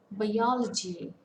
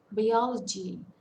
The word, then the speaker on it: biology: on the first syllable and biology biology it's biology and the stress falls on the second syllable it's a four-syllable word now coming to stress